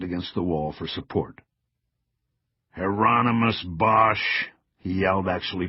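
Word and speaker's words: Hieronymus: Heronmous Bosch, he yelled, actually pronouncing it correctly.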